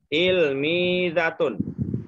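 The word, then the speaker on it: تلميذة: Tilmizatun. Tilmizatun. Ya, tilmizatun. Ya. Da, jangan za ya. Da. Tilmizatun. Ujung lidah dengan ujung gigi ya.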